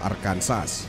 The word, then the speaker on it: Arkansas: Bawal mo ding bigkasin ang Arkansas with S ang Arkansas kahit na ang palatitikan nito ay A-R-K-A-N-S-A-S.